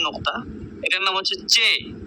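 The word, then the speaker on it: چ: এরপরে হার মতো টান, হা, এর নিচে 3 নুক্তা, এটার নাম হচ্ছে চে, চে।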